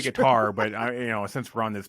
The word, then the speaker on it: Qatar: Yeah, no, I always say Qatar, but since we're on this podcast, I'll say Qatar.